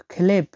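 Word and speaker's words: хлеб: Clive, খেলেব, খেলেব, খেলেব। এখানে এইচ উচ্চারণটা হবে খ এর মতো, তাহলে কি হবে খেলেব, খেলেব, খেলেব মানে রুটি।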